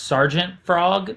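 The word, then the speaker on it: Sgt. Frog: to be reading called I think it's pronounced Sergeant Frog, but it was SGT Frog.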